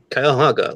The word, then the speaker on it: Cuyahoga: Cuyahoga, like the river.